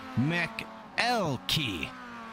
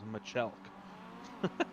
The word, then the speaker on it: McElkey: And pronunciation correction there. It's McElkey. Thank you very much for the pronunciation correction. McElkey Racing. McElkey. Okay, I thought it was Michelk.